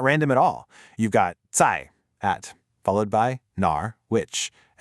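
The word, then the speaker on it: 在: First, we have zai. That's a 4th tone.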